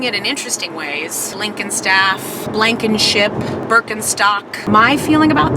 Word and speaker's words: Blickenstaff: It's a long German last name, and I'm hoping by the time I'm dead that people will know how to pronounce it correctly. It's Blickenstaff.